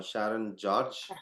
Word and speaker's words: Sharon George: Um so guys uh please do um welcome Shireen uh Sharon George.